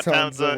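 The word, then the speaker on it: Townsa: If you want there to be, just tell me how you spell it. Nah, Townza.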